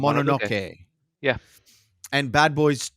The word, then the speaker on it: Mononoke: You actually pronounced it correctly. It's Mononoke.